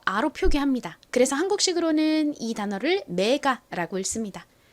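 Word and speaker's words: MEGA: 표기합니다 그래서 한국식으로는이 단어를 메가라 씁니다 실제의 발음은이가 좀 힘빠진 어에 가까운 소리가 나서 메가 보다는 메가 메가요 정도로 발음이납니다 사실 가라고 발음 하나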